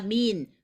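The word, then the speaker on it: 麵: 국수는 민입니다. 민. 면이시죠? 한국말로 면, 재면소, 이렇게 국수집, 이렇게 재면소, 이렇게 한국에 가니까 써놨던데, 민입니다. 민. 그래서 면하고 민하고 발음 똑같지 않아요?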